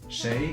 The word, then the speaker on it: 谁: This is just the right pronunciation for the character. Shay, it means who.